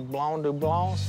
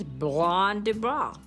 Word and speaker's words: Blanc du Bois: All these are Blanc du Blancs? Blanc du Bois. Blanc du Bois. Blanc du Bois. Blanc du Bois. Willie can't even pronounce the name of the grapes. It's Blanc du Bois.